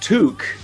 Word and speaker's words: toque: about this because the it's pronounced took in canada okay and so when